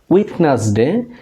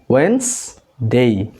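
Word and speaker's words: Wednesday: এই প্রোনাউন্সিয়েশনটা আমরা সাধারণত করি উইডনেসডে, বাট এটা উইডনেসডে না, এটা হবে ওয়েন্সডে।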